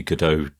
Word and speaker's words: Godot: And it would be wonderful to see Godot be that kind of option for games development. And I think it will. I see we've reverted to the American pronunciation of Godot now, to Godot. What is it?